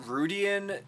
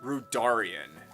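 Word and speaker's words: Rudania: with was uh radarian I was calling it rudian during uh my Legend of Zelda breath of the Wild stream but I think it's actually pronounced rudarian um and it was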